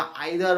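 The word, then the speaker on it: either: অর, ও আর অর, বা আইদার অর, এটাকে উচ্চারণ অনেকে ইদার অরও বলে, এটাও অবশ্যই প্রোনাউন্সিয়েশন হিসেবে ঠিক। নেদার নর বা নাইদার নর, যেটাকে আমরা বলে থাকি।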